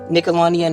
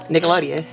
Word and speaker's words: Nickelodeon: And unfortunately, although Nickelodeon is letting you go. Can I ask why you're saying Nickelodeon like that, ma'am? How do you say it? Nickelodeon.